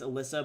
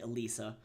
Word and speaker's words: Alysa: Um but then also to her first name that people have been saying it's Alyssa, but her name is actually Alisa.